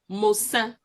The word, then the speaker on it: Mosa: So in Moses, what you get is Mosa.